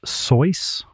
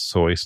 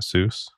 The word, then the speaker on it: Seuss: to whom him wow there was some kind of rhyme that he wrote down that suggested that it was soy not Seuss yeah okay did you